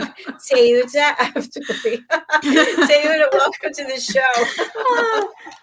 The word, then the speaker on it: Teuta Avdyli: TEUTA AVDYLI.